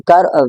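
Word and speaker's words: car: तो कार, इस British English में आप क्या करेंगे, आप वर्ड के आखिर में आर को प्रोनाउंस नहीं करेंगे, तो आप बोलेंगे का, का, नॉट कार, कार प्रोनाउंस नहीं करेंगे। बट इन अमेरिकन इंग्लिश आप इस आर को स्ट्रांगली प्रोनाउंस करेंगे, आप इसको बोलेंगे कार, कार, कार।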